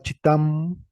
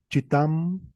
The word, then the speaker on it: chitam: consonante es la H esta consonante se representa con dos signos Con la c y con la H como ejemplo tenemos la palabra chitam chitam chitam significa pecarí y es